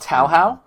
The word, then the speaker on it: Touhou: you can go first it's pronounced tauhau this is Rhythm Heaven